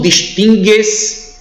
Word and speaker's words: distingue: está correto distinguir então se eu falo distinguir eu distingu tudo distingues ele distingue você não pronuncia o u seguindo essa conjugação aí